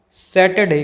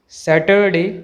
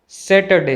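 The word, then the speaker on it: Saturday: sound नहीं होता है इसे हम सैटरडे कहेंगे सैटरडे कहना गलत है इसका सही प्रनंसीएशन सैटरडे हैं ना की सैटरडे देखिए इस वर्ड में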